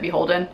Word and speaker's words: BHLDN: I never knew for the longest time that you pronounce it Beholden. I always just called it BHLDN, but it's Beholden.